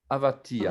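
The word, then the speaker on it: אבטיח: Avatiach. Avatiar. Avatia. Alors, Pastèque. c'est un chet, donc on doit bien entendre avatiach.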